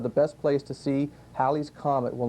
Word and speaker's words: Halley: Now, you may have thought of Halley's Comet, you thought it might be pronounced Halley's Comet.